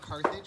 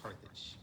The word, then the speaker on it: Carthage: edge of the earth it's pronounced carthage by the way not garbage and not carnage carthage i know menhe because